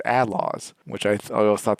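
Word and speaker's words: A-Laws: it's it's I mean we read it right phenetically and I don't know Western wise or something American English we think oh a law but a lot of the times the characters pronounced it Outlaws which i i al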